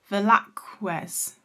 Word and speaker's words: Velázquez: I'm butchering the pronunciation here, let me look that up. Las Menimas by Diego Velázquez.